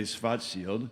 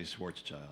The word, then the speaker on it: Schwarzschild: If you're in Germany, you say Schwarzschild. Okay. But if you're not, you say Schwarzschild.